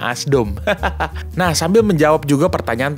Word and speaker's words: AZDOME: pasang ya Ini dia mereknya asdom sebenarnya bacanya tuh azidom ya tapi kayaknya lebih enak nyebutnya asdom Nah sambil menjawab juga